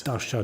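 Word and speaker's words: Darcia: pronouncing it perfectly in the it's NV eyes Dasha nise D let's just spell it out for people listening d a r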